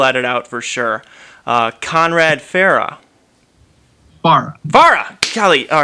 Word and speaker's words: Faraj: I'm pronouncing that right? Okay. It's Farah, but Farah? All right, let's start over.